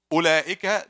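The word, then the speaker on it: أولئك: Ulaika, there's waw, but it's silent.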